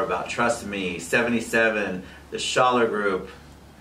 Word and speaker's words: Schaller: can learn more about Trust Me, 77, the Schaller Group.